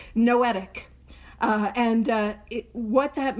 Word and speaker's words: noetic: The second description is that it is noetic spelled like with an N like Noel knowetic.